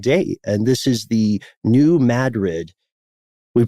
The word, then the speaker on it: New Madrid: And this is the New Madrid. We pronounced it correctly this time, Matt.